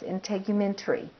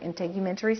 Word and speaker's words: integumentary: is one of those systems it's hard to pronounce integumentary is how you pronounce this word integumentary system and special sensory organs like the ears